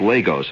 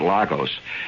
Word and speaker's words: Lagos: And by the way, it's pronounced Lagos, and not Lagos.